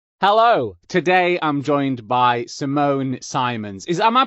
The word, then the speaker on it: Simone Simons: hello today i'm joined by simone simons is am i pronouncing that correctly yes that sounds great good